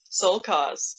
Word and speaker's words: Sole.Cos: Sole.Cos, or how do you pronounce it? Sole.Cos. You can just Sole.Cos.